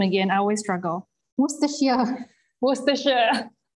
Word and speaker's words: Worcestershire: Melissa, can you pronounce the name again? I always struggle. Worcestershire.